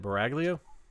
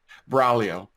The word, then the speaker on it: Buraglio: at your name again is it Bragg Leo close enough all right say it for me Braulio Braulio Braulio probably okay proper Italian pronunciation although no one from